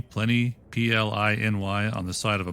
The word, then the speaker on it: Pliny: Also, those of you who have seen that name, Pliny, P-L-I-N-Y, on the side of a bottle, now you know the proper pronunciation of Pliny the Elder.